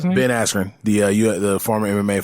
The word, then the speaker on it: Askren: right against uh who been at aspirin is how you say ben askren the uh the former